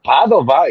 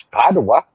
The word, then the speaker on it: Padua: in itself do what it's never Padova it's Padua well like you say it's